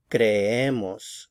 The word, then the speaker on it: creemos: So again, stress right here. Creemos, creemos.